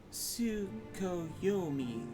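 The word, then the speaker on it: Tsukuyomi: take a seat it's pronounced su ko yomi correct a figure from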